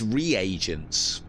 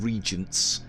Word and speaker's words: reagents: is isn't it it's reagents someone said that I think Jackie said that I've always called them Regents as in like ingredients but yeah reagents would be having read